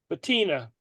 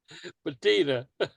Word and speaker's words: patina: how do you say it's a patina yeah there you go sounds like petunia that's how remember it petunia patina ah you can have